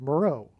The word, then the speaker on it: Meroe: Moreau, which is spelled differently, but it sounds the exact same. And there is an ancient region of Kush, which is Ethiopia, named Island of Meroe.